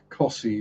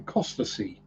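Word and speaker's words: Costessey: So I mean, places like Cossey or Tacklestone or Haysborough, they aren't spelt like they're pronounced. So you'll have people saying Costasey or Tackleneston or Happisburgh. And Stookie, well, that's that's just stiff key.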